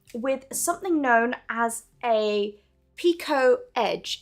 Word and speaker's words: picot: something known as a picot edge it's spelled p-i-c-o-t so it's spelled picot but it's pronounced Pico because it's probably french and the French like